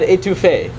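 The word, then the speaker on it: étouffée: louisiana how many of you have ever had etouffee uh cajun stew yeah i see a few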